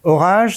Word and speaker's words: ORAJe: Orage, ça fait penser au tonnerre, aux éléments météorologiques, aux forces aérodynamiques, mais ça s'écrit avec un J, donc il y a une explication forcément, c'est quoi?